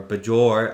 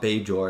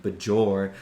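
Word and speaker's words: Bajor: all of beor or bour I should say not beor like in TNG bour like pronounce the J really hard for some reason in DS9 but you know everything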